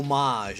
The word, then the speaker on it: homage: Is a homage or homage? How do you pronounce it? Oh, homage is the right way to say it. I've been saying it wrong my entire life.